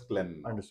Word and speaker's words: Klen: as Clen clean only it's but we all pronounce it as Clen sir yeah so today in the Cen La